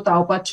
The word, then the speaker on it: Taopatch: Taupach è la pronuncia giusta, non volevo sbagliare qua.